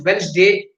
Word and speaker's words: Wednesday: what day is today today is Wednesday you should not say with this day because D is silent tell what day it